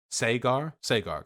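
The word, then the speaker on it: Saagar: Can somebody help me pronounce that? I saw some people criticizing me earlier in chat. Sagar, gotcha.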